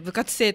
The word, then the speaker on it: 部活星: 、はい、生は星と書いて、はい、部活生と読みます。